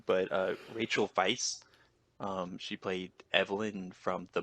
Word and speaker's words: Weisz: I had to look up the pronunciation of her last name, so I think I'm pronouncing it correctly, but Rachel Weisz, she played Evelyn from The Mummy.